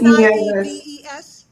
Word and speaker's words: Nava: N will you pronounce it for me? It's ne uh the name is NAVA. Hi, Reverend Liz. Nva, thank you.